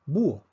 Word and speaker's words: búho: aquí tenemos un hiato tomemos la palabra búho también se escribe con h vemos que la fuerza cae sobre la un búho nuevamente la academia dice que para efectos de si la veo la h es invisible por lo tanto tenemos